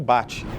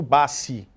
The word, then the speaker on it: Bacci: apelidado como luí Fernando bate usava luí Fernando Bassi a família inteira depois da entrevista do Jô passou a ser chamada de bate que é o pronúncia correta em italiano e eu vim aqui